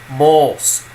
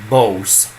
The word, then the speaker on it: mos: Remember, you're not saying bos. First of all, you're making this non-plosive ba, and a long o is o. Don't do the o, which is a diphthongating like you do in English.